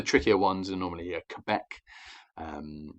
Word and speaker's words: Quebec: ones are normally a quebec is the harder one to pronounce don't forget you don't have to make the q sound because this is an international phrase it just has to be quebec um and one of the